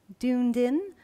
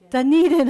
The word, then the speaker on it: Dunedin: number i counted up 17 books her novel doomed in how you say it Dunedin i suddenly realized i was a Scottish word